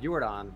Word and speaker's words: Yordan: It's like the same, but with Yordan, I'm not calling him Jordan.